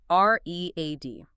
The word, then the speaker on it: read: It has two different pronunciations depending on the tense, right? I read every day versus I read that book yesterday. Only the surrounding context tells you which sound to use.